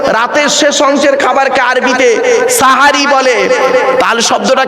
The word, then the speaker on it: সাহারি: ও বাবা সেহরি নয় শব্দটা, শব্দটা সেহরি নয় গো বাবা, শব্দটা সাহারি। কি বললাম? চলুন, সেহরি আর সাহারির মানেটা কি? দন্তেশয় একার আর দন্তেশয় আকার, আসমান আর জমিন তফাৎ।